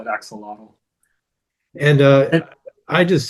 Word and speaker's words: axolotl: Yeah, in English it's axolotl. There's the real way, the Spanish way is different.